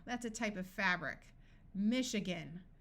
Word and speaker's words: Michigan: a type of fabric Michigan note that this a schwas Michigan is a state in the United States in this word the I is going to sound like a long e machine brochure parachute notice